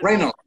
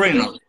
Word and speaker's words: Reynolds: Reynolds. Ryan Reynolds. Reynolds. No, no es Reynolds, no es.